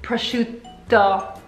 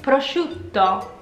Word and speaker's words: prosciutto: Italian ham right well it should really be prosciutto like spaghetti spaghetti like spaghetti should be you should be saying it prosciutto but who in who